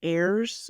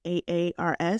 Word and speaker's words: Ayers: And so again, me being the quote person, and I think you pronounce this last name as Ayers. It's Aars. So this is by Allison Ayers.